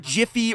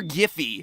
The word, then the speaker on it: Giphy: Have you ever used anything from Imager, Jiffy, or Giphy, depending on how you pronounce it?